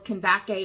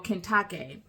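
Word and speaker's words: Kandake: of great authority under Candace, Kentake, depending upon how you want to pronounce it. But in ancient times, it was Kendake or Kentake, queen of Ethiopians, who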